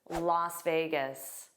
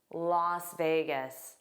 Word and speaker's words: Las Vegas: Let's review this very fun city, Las Vegas. Las Vegas. Notice the pronunciation looks like it should be last because you see an as s.